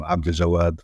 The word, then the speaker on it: Abdaljawad: So I'm Abdaljawad, which you kind of attempted to pronounce, but at the same time, people call me.